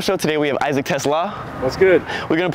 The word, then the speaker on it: Teslaa: It's not Tesla. Tesla. Tesla. Yeah.